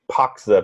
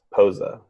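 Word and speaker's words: Pocza: I think you have to say it phonetically, right? Like it's P-O-C-Z-A. Yeah. Yeah. So it sounds like Poxa, but it's Posa. Yeah, he said it yesterday, so I know it's Posa.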